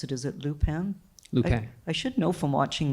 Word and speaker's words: Lupin: I don't know how to pronounce it. Is it Lupin? Lupin.